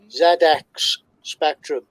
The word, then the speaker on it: ZX Spectrum: uk uh sinclair and here's the british pronunciation zx spectrum zx spectrum so there you go 48 kilobytes folks 48 kilobytes now literally does it happen yes it does unfortunately no wi-fi no i like how you i like how you include the pronunciation because of the zed and the the yeah